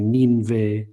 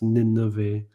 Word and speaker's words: Nineveh: The second one, if there's 2 similar consonants like Nineveh, then it has to be a vocal shva. It can't be Ninve, it's Nineveh, or Hineni, 2 of the same consonant.